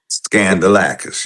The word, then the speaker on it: Skandalakis: Think scandal when you pronounce it. Okay. Scandalis. Scandalacis. Scandalacis.